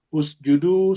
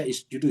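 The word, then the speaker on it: اسجدوا: malaika, kepada para malaikat, usjudu, sujudlah kalian semuanya. Biasa ada orang membaca isjudu ya. Ini kalau kita yang belajar bahasa Arab harus bacanya usjudu. Ya. Kenapa? Karena dhamma di sini.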